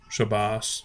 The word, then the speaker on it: Shabbat: to see or hear the Ashkenazi pronunciation, which is Adonai and Shabbos or Shabbos, and you know, instead of saying Shabbat Shalom, they'll say Gut Shabbos.